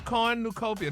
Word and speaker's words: cornucopia: coruc not quite no you put the accent in the wrong place try it again corn new the word is Cornucopia that's c o r n u c o p i a corn new Co Cornucopia